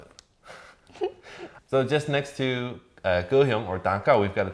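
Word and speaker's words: 高雄: That's kind of like reading these two characters with a Taiwanese pronunciation. But it's actually a little bit strange to me because these two characters is Japanese. Yes. It's actually Japanese. And in Japanese, we pronounce it as? Takao. Takao, right. Mm. So Japanese name, Takao, kind of like reading the characters in Mandarin and then later in Taiwanese, kind of changing it.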